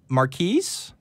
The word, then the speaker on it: Marquise: So while I get to that, let's go ahead and talk to, is it Marquise? Is that how you pronounce your name? Yes. Yes. That's how it's pronounced.